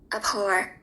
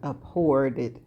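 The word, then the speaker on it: abhorred: And this is how it is pronounced. Ahore. Yeah, abhored. It's past tense regarding with disgust. Okay. The things Kit liked about her were what Allan had. Ahour. Abhoured.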